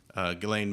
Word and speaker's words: Ghislaine: So you are pretty into conspiracies, and Ghislaine Maxwell, is that how you say it?